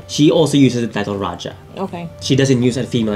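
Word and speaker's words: Rajah: what Tagalog people, but the pronunciation is actually Raja, not Raha.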